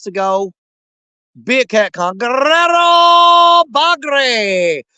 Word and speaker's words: Guerrero Bagre: Guerrero Bagre. See, you guys, I say it properly. You none of y'all say it right. You got to roll your R's. Guerrero Bagre. That's the proper way to say that.